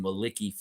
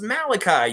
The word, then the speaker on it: Malachi: announced teams called him Maliki Flynn. And I was like, is there anyone in this world actually pronouncing the name Maliki? Like, have you ever met somebody named Maliki? No, it's Malachi, you idiot.